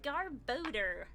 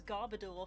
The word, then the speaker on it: Garbodor: an altaria and a garbodor which i pronounced as garbador for ages until i heard it pronounced in the anime and i was like of course it's garb odor because it's odor it stinks we go another hit